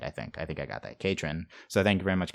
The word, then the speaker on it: Katrin: No, I think if I'm pronouncing it right and it rhymes like that, then I think that it's got to be Katrin the Patron.